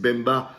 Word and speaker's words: Mbemba: Après, il y a Mbemba, donc alors a priori, on ne prononce pas le M, c'est Bemba, donc qui est, à